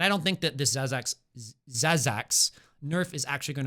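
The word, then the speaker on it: Zaz'Zak: zazac oh my God I I always thought this was Zach Zack's realm Spike why have you guys let me why have you let me mispronounce this item for like four months straight Zach zazac okay Lux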